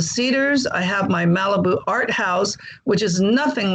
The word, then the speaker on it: ARTHAUS: So the Cedars to me is the corporeal body of a beautiful woman, you know, and the art house, it's spelled in the German manner, ARTHAUS.